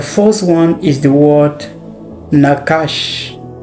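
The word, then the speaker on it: nachash: Now the first one is the word nakash.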